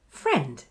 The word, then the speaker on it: friend: So the next way that the letter I is pronounced is the E sound, as in the IE spelling of the word. Friend.